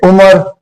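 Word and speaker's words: عمر: तो देखिए उमर, ऐन के ऊपर पेश, मीम के ऊपर ज़बर और रे साकिन।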